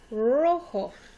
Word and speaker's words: rojo: Rojo. Rojo. Again, you notice the J makes an H sound. O sounds like a long O sound.